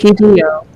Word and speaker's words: Hideo: it'll be Hideo.